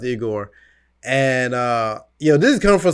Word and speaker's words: Igor: That's how you pronounce it, Igor.